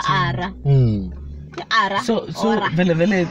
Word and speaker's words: Ara: it but santi ba mpotse maybe ba go pronounce Ara. Ara.